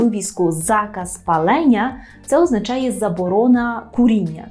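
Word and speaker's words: zakaz: заказ якщо ви почуєте польське слово заказ правильно з наголосом на передостанній склад То що вам спаде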